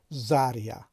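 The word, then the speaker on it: заря: از کلمه های بالایی در این کلمه زده در هیجای دوم افتاده است که میبینیم هیجای اول زر و هیجای دوم یا و به همین دلیل هم ما تلفظ نمیکنیم که زریه، ما میگیم زریه، یعنی هیجای دوم رو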